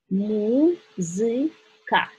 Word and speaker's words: музыка: Музыка. Музыка. You see the bold letter shows you that stress is here.